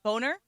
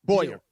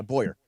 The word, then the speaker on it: Bowyer: Yeah, Matthew Boner. Yep. Boyner? I need to Bauer, ask how maybe? How do you spell it? Boywer. Bowyer. Bowyer, okay. Yeah, Bowyer.